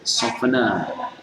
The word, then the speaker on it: soften: ini tidak boleh dibaca soften, hilangkan tehnya cara membacanya.